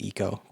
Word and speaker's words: Ico: And yeah, I know it's probably pronounced Eco, but whatever.